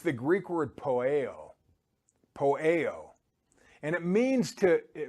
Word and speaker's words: poieo: It's the Greek word poieo. Poieo. And it means it's spelled P-O-I-E-O in transliteration.